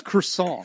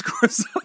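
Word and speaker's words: croissant: it's actually you dropped an entire con it's croissan it's croissan that's right it's pronounced Paraguay all right well we are excited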